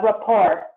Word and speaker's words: rapport: It's rapport. The T is silent, and then English has sort of like adopted it.